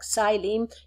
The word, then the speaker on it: xylem: Xylem, you spell it with an X, but you don't pronounce the X.